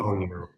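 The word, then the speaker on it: 宝玉: It's So Bao Yu. Bao Yu, Hong Lo Meng. tell us about Bao Yu and where, like, how you developed his character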